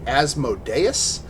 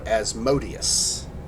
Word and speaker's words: Asmodeus: you all this because there's two valid ways to pronounce it and uh I think I want to go with the one where the majority of us at least agree is that asmodeus or as modius osmo days is how I always heard